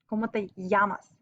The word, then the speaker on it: llamas: is a y so double l's sound like a y yamas good and then to say